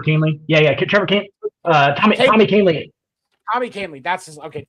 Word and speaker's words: Kahnle: Tommy Conley, I think that's how you say his name.